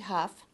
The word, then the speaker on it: Hough: My name is Hough. It's a very difficult name to pronounce correctly, but it's Hough like tough.